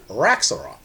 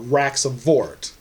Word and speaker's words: Xvart: It is said that a goblin named Xvart, or Xvart, depends on where you're from, how you pronounce it, had discovered an artifact